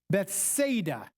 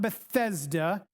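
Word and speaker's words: Bethsaida: Okay, we learn in chapter one that Philillip was I think I'm pronouncing this right from Beth Beth Bethada not Bethesda Bethada.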